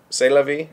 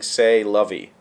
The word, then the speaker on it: c'est la vie: And since you asked about that ranch raise, the correct pronunciation is around "It's Olivia." It's Olivia. C'est la vie. It's Olivia. That's so similar, Google. The English pronunciation usually being "say lovey."